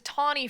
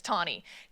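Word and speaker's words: Taney: States because of Justice tnie by the way T NE y uh for you undergrads I pronounced it Tanny for like a real long time so I'm just going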